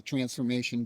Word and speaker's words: Trance4mation: Well, it's spelled transformation, TRANCE, the number four, MATION. So it's like you're going into a trance formation.